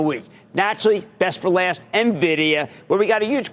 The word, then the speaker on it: Nvidia: didn't even know what Nvidia does they certainly can't pronounce it they pronounce it like Nivea cream this week those who